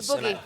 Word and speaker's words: buggy: The boogie. Yeah, if I was received pronunciation British, that would be buggy. But we say like boogie, love, mum.